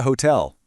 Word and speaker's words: hotel: Where is the hotel? ¿Dónde está el hotel? Just like in hola, the H in hotel is completely silent.